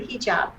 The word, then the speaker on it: hijab: students do you ever feel uncomfortable wearing the hijab am i pronouncing it correctly yes totally correct right i